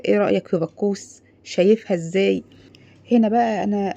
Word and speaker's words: باكوس: غريب شويه صح ا بكوس اتسمت على اسم خواجه يوناني كان اسمه بخوس بس اليونانيين ما كانوش بينطقوا الكاف زينا كاف كده كانوا بيقولوا عليها خ يعني اي حاجه عندهم